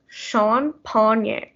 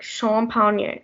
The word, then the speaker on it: champagne: then uh and then there's champagne it's pronounced as sean pony like you have to continue with the e sound like shawn pony champagne and then uh everyone